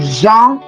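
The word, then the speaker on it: gens: And then we have it as in Jean, Jean as in people.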